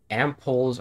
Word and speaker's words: ampoule: Ampoules are usually made of glass. Okay, how do you pronounce it?